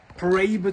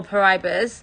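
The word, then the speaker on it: Paraíba: Look, I mean, I hear it a lot of different ways. Paraiba. The Brazilians say it different to the guys in Mozambique.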